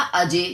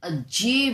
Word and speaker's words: अज्ञेय: ठीक है, एक होता अजय, जय खाली जय होता तो अजय बोला जाता, लेकिन अज्ञेय बोल रहेंगे हम इसे।